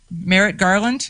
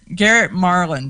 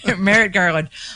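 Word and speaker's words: Merrick Garland: that garrett that um i can't ever say his name the the letter about the atf merritt garland is that it yep yeah okay because i always want to call him gar gar garrett marlin and it's not that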